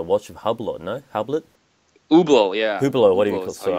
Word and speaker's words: Hublot: Hublot, yeah. Hublot, what do you Hublot call it? is how you So, I'm so pronounce. bad with Yeah, names. So, that's how you pronounce. Hublot.